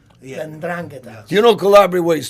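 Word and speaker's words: 'Ndrangheta: And out of Napoli, you have Gomorrah, and then I can never pronounce the other one. Calabria's and Drangheta. Yeah. Ndrangheta.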